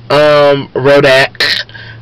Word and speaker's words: Rodak: today, you know, give a quick real big shout out to my bitch, Rodak, rhymes with Kodak, but bitch threw down on some steak and chicken tacos.